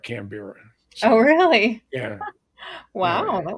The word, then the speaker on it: Canberra: nowhere capital of australia she mispronounced the name cam canberra you call it cambrie and so not to